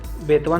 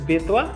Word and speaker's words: बेतवा: बेतवा बैताल, जैसे दोनों का प्रोनाउंसिएशन सेम है, तो आप इस तरीके से याद करेंगे।